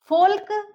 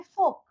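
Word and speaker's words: folk: फोल्क या योल्क नहीं बोलेंगे, हम इसको बोलेंगे फोक, योक।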